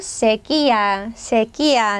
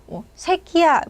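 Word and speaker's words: sequía: 쟤는 가뭄이란 뜻인데 여러분 이렇게 강세 이렇게 콕 찍혔으면 그냥 힘만 주시면 됩니다. 자, 강세교칙 꼭 같이 한번 체크를 해주시고요. 저희 발음 잘못하시면 안 돼요, 여러분. 특히 한국 분들이 새끼야 이러면 안 되잖아요.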